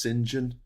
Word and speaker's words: St John: CH yeah I know St John is pronounced singen I mean the thing